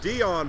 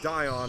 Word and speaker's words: Dion: Ken Moats, number 20, and I was mispronouncing Dion Bartley's name. It's Dion Bartley, not Dion, as I thought it was.